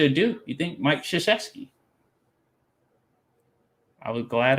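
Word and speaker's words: Krzyzewski: schuszewski i was glad i actually just said his name right because i wasn't sure how it's been pronounced and i've been able to get it right all this time but you look at his last name you're like how do you get that pronunciation but that's that's what it is but we call him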